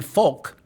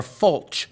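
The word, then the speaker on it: Folch: Unbelievably, Duke University's cultural anthropologist Christine Folk, I believe that's how it's spelled, it's pronounced F-O-L-C-H, Folk or Fulch, she told the Chronicle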